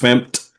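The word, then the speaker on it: fmt: And this is what uh uh this stands for they it's pronounced fmp for format and it has a bunch of functions in there for formatted output um um in in Go.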